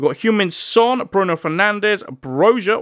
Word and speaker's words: Broja: human son Bruno Fernandez broja or broya I think it's brought I think you actually pronounce it as broyer he's got a very